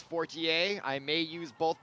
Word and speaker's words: Fortier: That is Frida Fortier, or Fortier as they call it. If you're in America, if you're in France, it's Fortier.